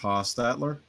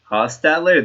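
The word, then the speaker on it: Hostetler: Jeff Hostatler. Hostatler. That's how you pronounce it.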